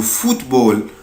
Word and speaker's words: football: الدبل او هنا بنطقها او. فوت. فوت. le football.